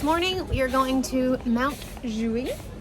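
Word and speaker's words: Montjuïc: This morning we are going to Montjuic. Is that how you pronounce it, Dave? That's exactly right.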